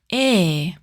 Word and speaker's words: ㅐ: Next is A. Write a vertical line. Then a short line from left to right and another vertical line from top to bottom. Open your mouth and lower your tongue.